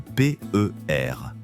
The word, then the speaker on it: PER: Aujourd'hui, nous allons étudier l'un des plus connus, le ratio court sur bénéfices, généralement appelé le PR. En français, cet acronyme se prononce comme le mot paire.